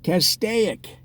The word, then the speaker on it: Castaic: now will tend to pronounce it with three syllables as rhyming with the word prosaic see cast a ik so this controversy has